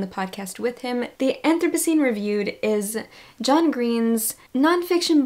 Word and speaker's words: Anthropocene: I think it's Anthropocene.